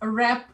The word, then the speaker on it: wrap: W-R-A-P. Wrap. Let's wrap it up. Ну, W не читается, да?